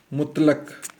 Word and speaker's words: مطلق: ہوئے ہیں وہ ہے مطلق، تو ہم اعراب لگا رہے ہیں، دیکھیں کیسے۔ مطلق، میم پیش تو یہ مت، یہ